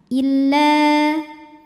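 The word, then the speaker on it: إلا: Cara membacanya dipanjangkan la-nya dua harokat. Illa. Namun dibaca panjangnya hanya saat berhenti saja. Kalau terus gugur panjangnya, jadi pendek illalladzi. Kenapa? Karena ada pertemuan dua huruf sukun.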